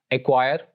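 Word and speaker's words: acquire: एक और रूल सी का ये है कि सी is usually not pronounced before the letters के और क्यू, यानी अगर लेटर सी के और क्यू लेटर से पहले आ जाए तब भी सी विल बी साइलेंट, यानी तब भी सी को प्रोनाउंस नहीं किया जाएगा। एग्जांपल्स ये हैं, ब्लैक, हैक, एक्वायर, कैकल और एक्विट।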